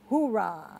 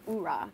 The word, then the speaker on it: oorah: So tell us about the one that the hoorah. That's how you say it, right? I think that's army. They say, I think it's like hoorah, but the Marine Corps is oorah.